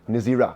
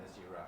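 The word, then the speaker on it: נזירה: Is there a female pronunciation in Hebrew for Nazir? Nezira. So there's a Nazir Yeah. and Nazira.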